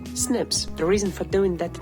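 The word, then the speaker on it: SNP: against non-tic alterations called single nucleotide poly aism pronounced Snips the reason for doing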